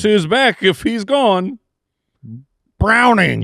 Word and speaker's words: Browning: Browning. Yeah. That's how you say it. Yes. Browning.